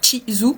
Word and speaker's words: Chizu: Moi, ça se prononce Chizu.